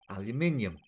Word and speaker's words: aluminium: Aluminum P. Sorry, I'm going to say that right. Aluminum powder for taking fingerprints. Aluminium. That is the correct way to pronounce it.